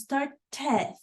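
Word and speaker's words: started: there's a third sound the third sound is going to give us not only a different sound but an extra syllable to the word to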